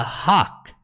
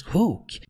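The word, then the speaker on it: Hulk: dizendo we have a Hawk significa nós temos um hul ou seja eles pronunciam haw nós dizemos Hook você até poderia essa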